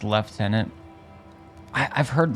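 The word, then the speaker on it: lieutenant: proper one at that that word being pronounced left tenant I I've heard like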